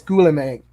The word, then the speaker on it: Guillaume: Visual effects go to Greg Butler, Dominic Tui, and Guillaume. Is that I believe how you say it? I think it's Guillaume.